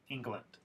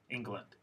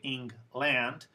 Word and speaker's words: England: you this word here if you look at just the spelling you might think it's pronounced as land but there's a schwa there it's not land it's land England England if you say ing